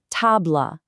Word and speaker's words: table: For table, make sure you're pronouncing that soft L sound at the end, not the hard English blah. It's table.